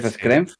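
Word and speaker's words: Schrempf: El segundo fue llamó mucho más conocido un alemí del scramp o así se pronuncia que fue estar en el 93, en el 95 y en el 97. Iba a decir screm que podía ser. Y el tercero es un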